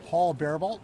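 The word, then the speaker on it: Paul Bariboult: And then Yes, Paul Barebolt, President and CEO of San Diego Zoo Wildlife Alliance. Name is spelled P-A-U-L, space, B as in boy, A-R-I,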